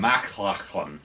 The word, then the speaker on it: MacLachlan: Yeah, the guy from McLachlan. Dune. Yeah, I can never pronounce his last name. MacLachlan.